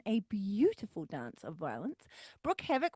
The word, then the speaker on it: Brooke Havoc: And a new woman, Miss Brooke Havoc. We haven't talked about Brooke Havoc before, so let's learn a little bit about her. Broo Havoc is Broo Havoc. I'm already getting her name wrong.